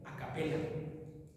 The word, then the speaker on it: a capella: Se escribe a capella. a capela se dice el origen epidemiológico de la palabra capella es eh el canto sin instrumentos de los primeros cristianos.